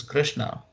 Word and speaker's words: Krishna: saying my name is krishna the word krishna rhymes very closely to christina carina these are all very